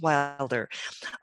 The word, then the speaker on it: Wilder: gloria laura ingalls wild laura wilde i'm saying her name wrong laura laura ingalls right laura ingalls wilder wrote wonderful books about